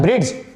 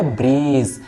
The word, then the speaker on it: bridge: आप इसको क्या पढ़ते हैं? ब्रिड्ज. ब्रिड्ज नो, ब्रिड्ज नॉट. इसको पढ़ेंगे ब्रीज. क्या पढ़ेंगे? ब्रीज पढ़ेंगे. ब्रीज क्यों पढ़ेंगे? क्योंकि यहां भी जी से पहले डी आ रहा है.